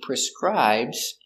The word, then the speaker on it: prescribe: for the medicine he prescribes the medicine you cannot buy antibiotics without a prescription so the doctor needs to prescribe antibiotics pronunciation prescribe prescribe prescribe the stress is on the second syllable prescribe prescribe prescribe in